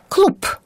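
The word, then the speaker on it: клуб: 読んで思いますまずクラブという意味の言葉九蔵ぶっっと書いてあるのですがクループと読みます男の友達ブログ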